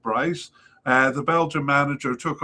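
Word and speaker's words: Brys: I think it's BR R YS maybe pronounced Bryce.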